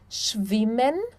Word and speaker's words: schwimmen: Quando nós temos um S antes do CH, nós pronunciamos, então, o som do X, tá? Por exemplo, schwimmen, schwimmen, schon, schon, Schweiz, Schweiz.